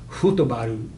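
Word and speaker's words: フットボール: So the Japanese word for football is futobaru. Okay, that is football filtered through Japanese phonology, futobaru.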